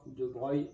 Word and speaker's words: de Broglie: moyens donc attention hein de bright ça s'écrit de broglie donc en fait on